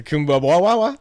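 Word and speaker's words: Kuumbwa: How do you pronounce that place downtown? The Kumbwa.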